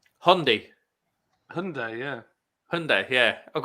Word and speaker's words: Hyundai: again oh dear the proper way to pronounce Hyundai Hyundai Hyundai yeah Hyundai yeah I've got americ M